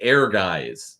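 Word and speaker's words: Ehrgeiz: I asked him like how do you say air guys you know that game lay yeah yeah on ps1 so I gave him the spelling or whatever and he was like oh that's it's like air headed gates or whatever I can't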